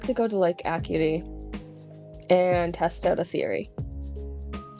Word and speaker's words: Acuity: I always get the Snow Point Lake and Acuity mixed up all the time. So okay. She's like, I would like to go to Lake Acuity and test out a theory.